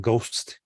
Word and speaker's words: ghost: You know, it's a silent H and ghost, Gastly, G or ghoul, right?